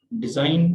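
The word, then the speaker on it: design: डिजाइन, तो ये again G एन एन का कॉम्बिनेशन है, तो जी यहाँ पे साकिन रहेगी।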